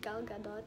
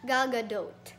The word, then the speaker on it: Gal Gadot: Is it Gal Gadot? Jal Gadot? Damn it. Okay, wait. Okay, so napanood ko yung video niya just now, how she pronounced her name was Gal Gadot.